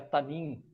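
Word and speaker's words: תַּנִּין: Esse termo é ela vem de uma tradução hebraica que se pronuncia tanim, tá?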